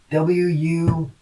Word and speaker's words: wundar: So Old Saxon wundar, W-U-N-D-A-R, which that it'd be pronounced wundar, wundar.